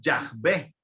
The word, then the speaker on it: Yahvé: En la Biblia cristiana católica encontramos que a Dios se le dice Yahvé. Para hacerlo un poco más exacto sería Yahvé, que es la pronunciación en hebreo.